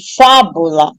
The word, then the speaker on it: fábula: a anti penúltima aí quando eu pronuncio a palavra fábula Eu Noto que a mais forte é a anti penúltima sílaba então se a sílaba mais forte é a anti penúltima ela é paroxítona eu tenho que colocar um acento agudo na letra A certo lâmpada a mesma coisa